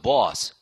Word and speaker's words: boss: 오로 시작해서 쫙 넘어가면서 boss.